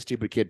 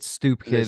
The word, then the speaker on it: Stoop Kid: It's Stoop Kid. It's clearly pronounced Stoop Kid. Everybody spelled says Stoop Kid. Like Andrea KGB Lee said the stupid kid.